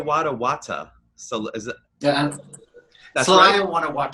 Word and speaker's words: Guanajuato: How do you pronounce that city's name again? You live It's Celaya, Guanajuato.